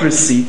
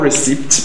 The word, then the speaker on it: receipt: P that is cool cool the P again is silent now come to receipt in the word receipt it's not receipt but receipt so the P again g is